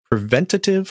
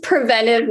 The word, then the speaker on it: preventive: under the purview of preventative or preventive medicine i guess those should probably be clarified first so it is preventive medicine that's the correct way to pronounce it technically under acgme we